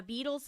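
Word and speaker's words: Beadles: you give beetles Property Maintenance a call now beetles is spelled b-e-a-d-l-e-s and they can help you out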